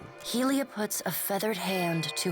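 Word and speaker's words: Hylea: Helia, as it's pronounced, goddess of the sky, maternity, creativity, birds, song, invention, language, and the arts.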